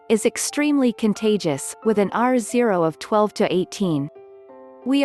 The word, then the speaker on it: R0: In public health we measure something called the R0, pronounced R0, which is the average number of people infected by a person with the virus, says Dr.